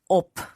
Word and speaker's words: ob: to op yes it's when it is a short vowel before the last consonant then the consonant has a hard pronunciation for example rat at